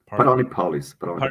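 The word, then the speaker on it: Paralelní Polis: How do you pronounce it? Parnelli Polis.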